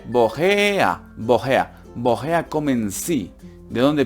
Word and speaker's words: woher: Aquí la única duda que tienen ustedes es porque se dice woher y no woher. Pues como les he dicho antes, la terminación ER se pronuncia una A, la H es una H, por así decirlo, tú dices hallo, ¿no es?